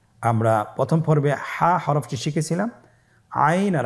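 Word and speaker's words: عين: এর মধ্যে একটি হরফ হল আইন। আইন হরফটি উচ্চারণের সময় অবশ্যই তিন আলিফ টেনে পড়তে হবে। এখন আইন হরফটি বারিক হরফ। পাতলা করে পড়তে হবে।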